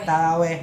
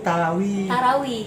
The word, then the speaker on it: tarawih: pengucapan dari masyarakat sering mengucap salat tarawih shalat taraweh yang berasal eh salah yang betul itu tarawih betul pemiliknya beritahu Lalu